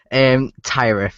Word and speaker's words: Tyarith: Yeah, everyone gets it wrong, like everyone. Tyarith is how you pronounce it.